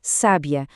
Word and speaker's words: sábia: Agora, se esse mesmo acento for para a primeira sílaba, temos sábia, um adjetivo para descrever alguém com sabedoria.